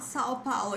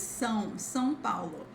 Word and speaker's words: São Paulo: However, if you are in São Paulo or Rio, it's not São Paulo, okay, guys? It's São Paulo.